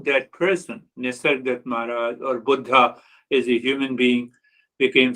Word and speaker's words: Buddha: Here in America, we say Buddha. Buddha means old, like me. But Buddha, the word is pronounced as Buddha, means awakened.